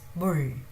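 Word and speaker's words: 물: It's neither M nor B. It's bull, bull, bull. Bull means water. As I said, biane, biane, biane, bianeo, biane, bull, bull. So this ma is pronounced somewhere between M and B.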